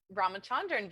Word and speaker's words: Ramachandran: Ramachandran, very close.